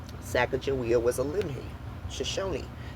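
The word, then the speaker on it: Sacajawea: See cash book William Clark spells sack jia with a J. Also William Clark and private George Shannon explained to Nicholas Middle the first Louiswis and Clark journal in 1814 about the pronunciation of her name and how this sounds more like a J.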